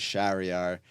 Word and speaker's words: Shariar: My full name is Shariar. For adults, I always tell them it rhymes with caviar.